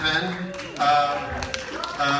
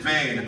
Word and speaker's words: Venn: Joe Lansdale, Venn. Did I say that right? No, I didn't. Fuck. You know what? He spells it wrong. He spells it, it's V-E-N-N, but he pronounces it Vane.